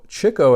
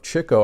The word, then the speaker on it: Chico: the front Groucho zeppo Chico as I found out that's the correct pronunciation of Chico I was used to saying Chico but it's really Chico